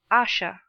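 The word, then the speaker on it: Ayesha: attitude stood the philosopher Asher please pronounce asha end of chapter 10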